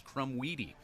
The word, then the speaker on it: Crumweedy: And we got confirmation last night at Mitchell Field that apparently through 47 games of the season, we've been saying his last name wrong. It is Crumweedy.